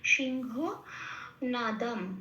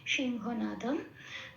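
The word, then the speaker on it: সিংহনাদং: যথারীতি অনুসার মাঝখানে আছে অনুসটা মত রেখেই আমি উচ্চারণ করব সিংহ নাদাম নাদাম কেন এখানে একটা অনুস্বর শেষে আছে সেজন্য এটা ময় হসন্ত হয়ে যাবে সিংহ নাদাম আচ্ছা বি বিনা এটা একটু উচ্চারণের সুবিধার জন্য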